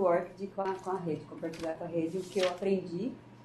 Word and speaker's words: ORCID: Não sei lá, mas no interior o pessoal fala ORCID. Então, a pronúncia correta, pelo que eu vi nos vídeos que eu aprendi com a Sueli, é ORCID.